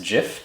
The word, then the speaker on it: GIF: So in class, this would be an animated GIF, and yes, it's GIF because an I following a G makes the J sound, not the hard G sound, and I will defend that to the death.